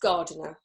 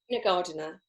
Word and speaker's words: Gardiner: of your LinkedIn so my surname would be pronounced gardener right gardener and yes I am